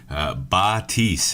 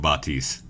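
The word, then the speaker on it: Baptiste: Batiste is how Jeff Kaplan pronounces it, but you go to every other streamer who's been practicing, everybody pronounces something different. We're going with Batiste. That's what his creator called him, so we're just going to stick with that.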